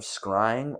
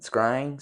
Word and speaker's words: scrying: This work, by Merrick Casaubon, describes the occultist Dee's activities with his associate, Edward Kelly, in the art of scrying or crystal gazing.